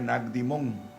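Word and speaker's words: Naqdimon: Juan, de Nicodemo, dice, "El evangelio de Juan en el griego del Nuevo Testamento se pronuncia Nagdimón."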